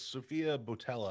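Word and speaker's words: Sofia Boutella: I felt bad because this movie, I think, was like, because Sophia Botella, I think is how you say Yes.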